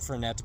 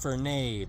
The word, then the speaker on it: Fernet: eyes and said, Johnny, it's pronounced Fernet Branca. Not Fernet. No, it's Fernet. The rest of the world says Fernet. They also say Gal Gadot and Brett Favre and Babe Newworth, but it's actually Fernet.